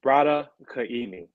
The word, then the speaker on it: Braddah Kaimi: Okay, now the question is going to be, is it Braddah or Braddah? How do you say, what's the proper pronunciation? You had them the first time. It's Braddah Kaimi.